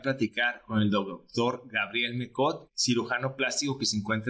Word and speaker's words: Mecott: ¿Cómo se pronuncia su apellido y de dónde es? Pues mira, es Mecott y dice la leyenda que viene de Francia,